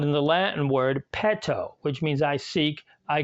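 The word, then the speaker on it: petō: and is pronounced ramus the short e sounds more like the e sound in our word bet or maybe in pet we can hear this sound in the Latin word pet Oh which means I seek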